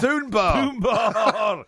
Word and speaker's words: Dunbar: lead researcher Professor Robin Dunbar but I'll do is he named after the beer no no it's spelled d-u-n-b-a-r not Doom that's Dunbar Dunbar that's right lead researcher